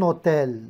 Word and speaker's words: hôtel: On dit un hôtel. Donc, dans cet hôtel, avec un seul T. Pourquoi? Parce que hôtel commence par un H muet.